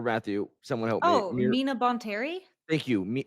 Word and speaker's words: Mina Bonteri: is when Ahsoka joins I'm gonna say her name wrong, Mira Von. Aaron, help me. Give me The Separatist Planet, or Matthew, someone help Oh, me. Mina Bonteri?